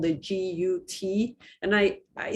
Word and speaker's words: GUT: those three merge into what is called the g-u-t and i i spell it because i'm i worry that with my